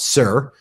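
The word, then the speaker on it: صور: In in in Arabic, they call it Sur, but it's Tyre, t y r e, or Sur is how they say it in Arabic. Evacuated and demolished.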